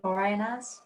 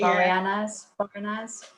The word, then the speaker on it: Boreanaz: I probably can't pronounce his name right, but is it David Boreanaz? Boreanaz or something, isn't it? Boreanaz.